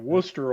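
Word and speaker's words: Wooster: years yeah from in worcester yeah did i say it right yeah you said it right worcester ohio i was actually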